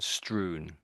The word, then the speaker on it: strewn: I think everywhere yeah that one's the last pronunciation strewn strewn okay so it's here there and everywhere in no pattern to it a little bit s chaotic ly laid out.